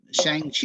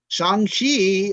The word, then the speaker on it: Shang-Chi: the emcee universe um shang chi is starts on friday right shang-chi excuse me i've been pronouncing it wrong and i got correct shanghi opens on friday and